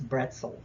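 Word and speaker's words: Brezel: the Fourth of July the pretzel actually originated in Germany and the pronunciation it's bretzel um this p b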